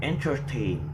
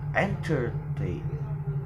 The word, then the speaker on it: entertain: So the word in the last syllable of entertain is heavier than the word before, so means we pronounce it is as entertain, not entertain, like that.